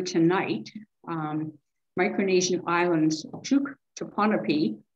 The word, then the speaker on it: Pohnpei: um micronesian islands to panopy which i managed to spell in two different ways in different different place but it's pronounced ponaby it's based on a